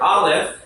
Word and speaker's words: Aleph: The letter Aleph is silent, so we think of